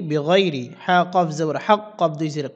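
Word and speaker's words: بِغَيْرِ حَقٍّ: অকফর সময় কফে কলকলা করতে হবে। আর এখানে যে কলকলা হয়েছে এই কলকলাটি সবচেয়ে বড় কলকলা হবে। উচ্চারণটা হবে এভাবে, বেগয়রি হক, এভাবে বড় করে একসাথে এটি বলে দিচ্ছি।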